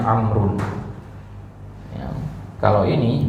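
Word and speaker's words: عمرو: ada kata amrun nah kata amrun ini agak unik dia ya karena dia pakai wau di belakangnya dan Wau ini justru tidak dibaca ya amrun ini wwya dianggap enggak ada ya Ini bacanya amrun Ya kalau ini bacanya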